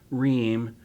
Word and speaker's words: Roehm: Yeah, Roehm. Roehm is spelled R-O-E-H-M.